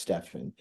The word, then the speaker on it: Stephen: but my name is Stephen s p hn it's SP pronounced Stefan if you want to be correct but it's Stephen sticks